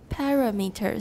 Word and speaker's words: parameters: Because the formant frequencies are inversely related to the traditional articulatory parameters. Second syllable stressed? Parameters. Very good.